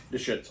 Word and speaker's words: Deschutes: And on this episode, I've got one from, I think I'm pronouncing this right. I always have to work on it. Deschutes? Yep. Deschutes.